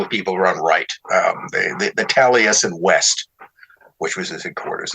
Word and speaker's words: Taliesin: I think at one point she mentions, he was Downard and Anne were part of this Taliesin circle of people.